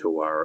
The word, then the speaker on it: tewari: Tawari. Its Japanese term is tawari.